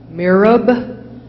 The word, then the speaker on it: mihrab: it is a word from Arabic it is pronounced mihrab want to know a meaning or a sentence